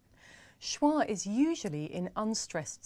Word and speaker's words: schwa: John no not really it's actually called schwa schwa which is pretty strange when you think about it because the word schwa doesn't have the schwa sound in it so why is this